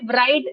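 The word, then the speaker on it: write: वि the pencil राइट इसे राइट लिखते हैं डब्ल्यू आर आई टी ई बट इसमें डब्ल्यू साइलेंट होता है इट्स राइट राइट राइट वो बस में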